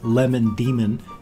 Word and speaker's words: Lemon Demon: he chose lemon demon because it's spelled the same but each word is pronounced and it's different you know Iman Iman lemon demon so you kind of stumble over it when looking at it that's the kind